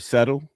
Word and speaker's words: subtle: Now for me, it was because she pronounced the B in the word subtle. She would pronounce the B. Subtle. And at one point, I even told her, I said, that B in that word is pretty subtle.